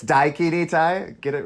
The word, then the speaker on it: Daikini: Dakini. It's Daikini Tai. Get it right? Excuse me, my pronunciation.